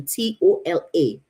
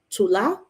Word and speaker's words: Tola: his name to to t-o-l-a but it's only like two versions of how you can pronounce that Tula otola right and typically they go with Tola which is great now